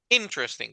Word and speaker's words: interesting: En inglés justamente es la primera sílaba la que tiene la fuerza de voz. Entonces es interesting, como que si la I principal, la primera tuviera una tilde, ¿verdad?